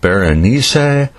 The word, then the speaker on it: Berenice: originally published in 1835 the main character's name is more closely pronounced something like Baron Issei but I'm just gonna say Bernice to keep it simple this story